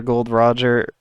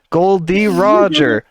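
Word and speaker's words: Gol D. Roger: of Legacy like the first few panels are gold Roger or sorry I can say his name properly now thank Christ Goldie Roger oh my God I can say it yeah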